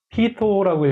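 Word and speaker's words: πείθω: 그래서 피토라고 얘 발음이에요. 그래서 피토.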